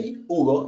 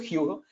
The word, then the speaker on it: Hugo: I will pronounce it in as I know it's in Brazilian, so I will say Hugo instead of Hugo.